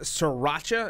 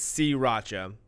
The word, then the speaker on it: sriracha: wrong last but not least sriracha is pronounced wrong by a lot of people now now they say Si Racha yeah sree sriracha ro Sri Racha yes Sri Racha City I've never heard anyone say Sri Racha nobody nobody in America knows the trouble of saying s followed by an R nobody does that nobody three like now it's si Racha turns out it's C Racha are si Racha yeah